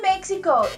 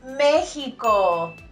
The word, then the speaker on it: México: It's a very common mistake to mispronounce letter X in Español.